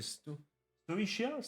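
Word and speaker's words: Stoicheia: C'est euh c'est ST pourquoi je me dire Stoika alors que pas du tout. Je sais jamais prononcer nom de cette nation. C'est Sichia. Pourquoi je dis Stoika moi comme un débile ?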